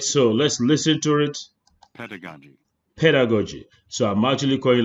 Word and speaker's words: pedagogy: Here some people pronounce pedagogy. Oh, my friend, it's not pedagogy, but pedagogy.